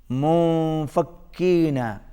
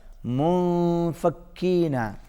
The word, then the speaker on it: منفكين: منفكين. منفكين. چھوٹا کاف ہے، باریک پڑھا جائے گا. منفکین.